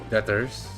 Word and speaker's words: debtors: the B in debtors is silent. Oh, so debtors like that.